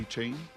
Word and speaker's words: Etienne: A-Chain? Which is also apparently how you pronounce Travis Etienne's name.